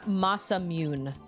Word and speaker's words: Masamune: Almost no romanization of Japanese has the English silent e vowel pronunciation. So, mune is not correct then is what you're saying. It's ma masamune.